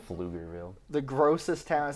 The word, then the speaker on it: Pflugerville: Pflugerville. Pflugerville. The grossest town. It sounds like you're hawking a loogie. Bro, and there's a silent P in that. Yeah, yeah.